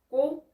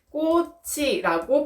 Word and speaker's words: 꽃이: 꽃이. 그쵸? 꽃이라고 발음이 되죠. 앞에 받침이 뒤에 모음에 붙어서 원래의 소리가 그대로 나게 되는 것입니다.